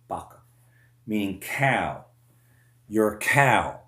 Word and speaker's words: vaca: It's vaccines, vaca, or in Spanish, the V is pronounced with a B, vaca, meaning cow.